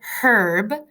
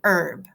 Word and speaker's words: herb: after me ready herb that H is silent you do not read it herb you don't say the H you just say herb okay here we go